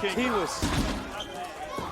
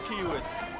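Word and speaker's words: Quihuis: It's the Ghoul Kingman and and Kiewis. Hitmen and Kiewis. The Q and the K. Kiewis, interestingly enough, is spelled Q-U-I-H-U-I-S.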